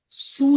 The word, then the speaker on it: sous: Le chat est sous la table. Sous. S-O-U. Sous का sound आएगा. S is silent.